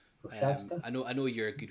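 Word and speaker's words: Procházka: So number 4 and 5 is Alexander Rakic and Jiri Prochazka. Is that how you say it? They I think are they said it's Prokrajec, which it's not right at all, but okay. Prochaska.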